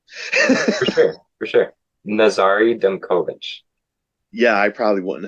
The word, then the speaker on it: Nazariy: Nazari Dovich. Yeah. I probably wouldn't have gotten that. All good. Yeah. All good. The first my first name rhymes with safari if that's easier.